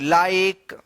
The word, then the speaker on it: like: जो रूल हम बताए हैं कि लास्ट में ई रहेगा और ई से पहले वाला वोवेल आई रहेगा तो आई का आई उच्चारण होगा।